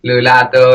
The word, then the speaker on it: Lulato: and I think it's it's simple it's three syllables it's like new lotto and and it's hard